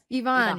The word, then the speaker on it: Yvonne: Is that how you pronounce Yvonne, Yvonne?